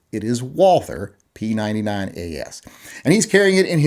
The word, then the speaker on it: Walther: And before people get on me and say it's pronounced Walter, you know, we won the fucking war. We get to decide how the alphabet is pronounced. It is Walther P99AS.